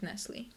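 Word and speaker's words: Nestlé: I think correctly it's Nestle but um Americans will pronounce it Nestle Nestle yeah Nestle again you don't pronounce the T Nestle Nestle Nestle good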